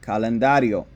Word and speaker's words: calendario: o is a vowel so we put the emphasis on the second to last syllable to make calendario if you listen carefully